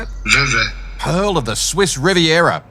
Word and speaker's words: Vevey: Vevey.